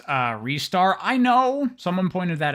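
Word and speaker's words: Ristar: Jump Around and shoot you with rockets it's pronounced uh restar I know someone pointed that out in the video I did on Genesis games as I suspected it is pronounced restar but man that don't sound as good I'm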